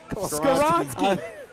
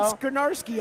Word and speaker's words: Skoronski: Isn't Skoronski? Isn't he a Mike Vrabel guy anyway? You got it. Way to go. Come on, man. Skoronski. Isn't he You've been saying Skonarski all day.